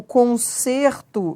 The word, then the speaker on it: concerto: Porque o concerto, verbo, a pronúncia é aberta. E o concerto, substantivo, o E tem pronúncia fechada.